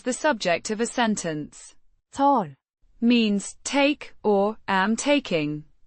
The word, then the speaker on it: tar: Always used when referring to oneself as the subject of a sentence. To means take or am taking pronounced to with the o sounding like the in father and the rolled lightly.